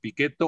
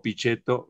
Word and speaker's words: Pichetto: al doctor miguel ángel pichetto quien nos hablará sobre una mirada sobre el país piquet o o pichetto según ustedes quieran pronunciarlo hoy a las 18